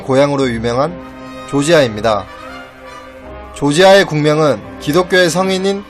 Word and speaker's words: 조지아: 어머님을 주장하는 학자들도 있습니다 한편 조지아의 국명은 원래 러시아식 발음인 그루지아 로 블루스가 2008년의 영토 문제를 놓고 러시아와 무력충돌 하기도 했던 조지아 가 자국의 명칭을 러시아식 발음이 아닌 영어식 빠른 조지아 라 불러 질 것을 공식적으로 요청했고 이에 따라 현재 한국을 비롯한 많은 국가들이 조지아 라는 명칭을 사용하고 있습니다 또한 조지아 인들은 자국을 4